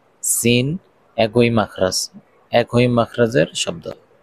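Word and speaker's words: س: দুই দাঁতের পেট ও আগার সঙ্গে লাগাইয়া যা সিন একই মাখরাজ একই মাখরাজের শব্দ সিন সিন সিন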